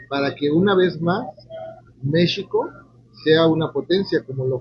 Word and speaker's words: México: que mxico digo mxico porque hay que recordar que en el nahuat las palabras son graves y se acentúan en la penúltima sílaba E eso es algo polémico porque hoy en día incluso los nagu hablantes suelen decir México no Mexico yo sostengo que debería ser Mexico pero ahí lo dejamos